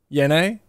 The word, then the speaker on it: Yene: Yene? Just like you pronounce it. Like Penne. Just like the pasta.